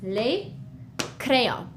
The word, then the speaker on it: crayons: As you can see, the S is, we don't pronounce it. We write it, we see it when we read it, but it's just les crayons.